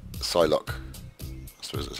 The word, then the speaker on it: Psylocke: Psylocke. I suppose that's how you pronounce it. Not Psylocke-y, Psylocke.